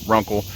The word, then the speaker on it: RUNCL: sent to me by runkle i believe i'm pronouncing that correctly it's r-u-n-c-l's the name of the company runkle and it is a